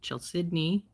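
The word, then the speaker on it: chalcedony: Here's that lovely one that I can never pronounce right because I want to call it calcidony. And some people have told me it's called Chel Sidney. And so I've heard it pronounced a number of different ways. I'm going to keep with my Calcedony because that's the first way I ever learned it.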